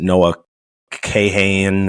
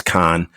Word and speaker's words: Kahan: weird spelling but um a lot of people pronounce it Noah Kahan or something like that it's Khan um I I encourage